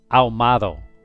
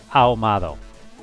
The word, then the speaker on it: ahumado: Ahumado. Au, because I got the A, the U, but the H, it doesn't exist. Ahumado.